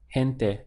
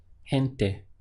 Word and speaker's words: gente: easy word in Spanish it's gente gente this ge has like a haitch sound gente so hint there is people in Spanish and it's a feminine word so the people would be la gente notice that in English